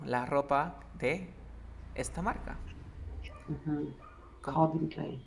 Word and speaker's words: Calvin Klein: Calvin Klein. Yeah, aquí pronuncia Calvin y acá con la A, Klein.